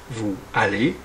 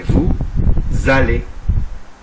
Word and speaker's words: allez: lettres muettes autre remarque on ne dit pas à nous allons mais nous allons on fait la liaison de même on ne dit pas vous allez mais vous allez là aussi on fait